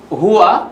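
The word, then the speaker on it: هُوَ: হুয়া উচ্চারণ করি বন্ধুরা, হুয়া, হ্যাঁ, হুয়া, হুমা, হুম।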